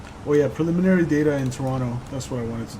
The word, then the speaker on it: Toronto: somewhere it said uh if you pronounce the second T in Toronto you're not from there which is so true everyone around here calls it Toronto they don't say Toronto uh monkey says what